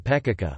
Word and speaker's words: Pecica: Even native speakers can sometimes mispronounce words such as the toponym Pekaka, which has two syllables, but is often mistakenly pronounced with three, or the name Mavroeni, which has four syllables, not three.